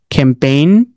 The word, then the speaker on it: campaign: এখন আছেন silent letter D, জি এর মধ্যে, যেখানে কি হবে? জি এর প্রনাউন্স হবে না। এইখানের মধ্যে এই যে এটা গুরুত্বপূর্ণ, ইম্পর্টেন্ট, ক্যাম্পেইন।